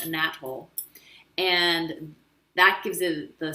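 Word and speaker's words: anethole: star nice is called a nat hole which is spelled a little bit different than it sounds but it's called a nat hole and that gives it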